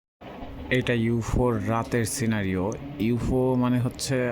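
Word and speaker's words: ЮФУ: Actually এটাকে ইউফো বলে না, যদি আপনি ইংরেজি শর্ট ফর্ম দেখেন তাহলে SFUDE এরকম কিছু একটা আসে, কিন্তু রাশিয়ান ভাষাতে মানে রুস্কি ভাষাতে এটাকে ইউফো বলে এরা উচ্চারণ করে।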